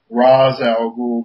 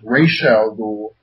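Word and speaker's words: Ra's al Ghul: with uh what they said in the movies RZ aloul but when you hear interviews with O'Neal and the other people that worked on the character and even in the anime series it's pronounced Rael ghoul right uh yeah but um I thought that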